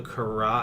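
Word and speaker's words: Carax: it's a film by Leo karat I think it's how you say his name it's c a r ax and um if you've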